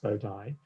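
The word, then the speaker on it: bodAI: called bow dyes and that's bod plus a i pronounced bowdie and that's because there's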